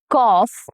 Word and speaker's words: cough: He had a bad cough all night. Cough, cough. The OUGH cluster has multiple pronunciations, and here it is the off sound.